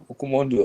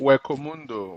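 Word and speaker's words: Hueco Mundo: Ukumondo, or what do you call it? Am I pronouncing correctly? Wekomundo.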